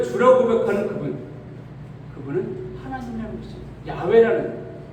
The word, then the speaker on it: 야훼: 내게 나타내시되 여기 여호와 요즘 야훼라는 단어를 좀 이렇게 표현하고 이 발음이 야훼가 우리가 가깝다 그러는데 아까 하란 단어에서 나온 단어가 바로 이 여호와 바로 야훼라는 단어입니다.